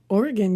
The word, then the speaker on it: Oregon: super highresolution photo of a wrecking yard in Oregon. Huh? Did I say that right this time? Oregon.